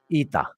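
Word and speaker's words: ήτα: this letter is actually called ITA that's how it's called ITA so that's why here it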